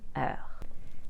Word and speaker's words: heures: PM, I'll say 21 heures. To turn the word heure into plural, simply add a silent S at the end of it.